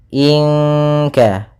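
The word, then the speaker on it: إنك: inat illaihatan wahidatanza humidun pada bacaan in in di sini ada ikhfa ya Nun mati bertemu dengan Kaf yaitu ikhfa bagian yang paling belakang yaitu Ikfa abad dan kita meny ya ke huruf Kaf langsung Inka Inka kemudian kanat pada lafal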